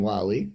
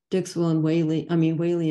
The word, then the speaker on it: Whaley: All the Whaleys I have contacted in England, Australia, and the US pronounce our name Whaley rather than Wally.